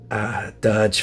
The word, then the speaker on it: Durge: Tony Z says to open the guy that rhymes with splurge. I love that. And that is it. I think I've mentioned everybody there. So it's definitely Durge, isn't it?